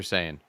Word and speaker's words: Saiyan: Super Saiyan.